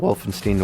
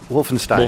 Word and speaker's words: Wolfenstein: something this time about Wolfenstein order and really quickly go over the synopsis after Wolstein what's that Wolfenstein Wolfenstein you don't like me saying Steen it's pronounced Stein I think in this